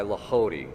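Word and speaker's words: Lehodey: the book the ways of mental prayer by lody that's spelled l e h o d e y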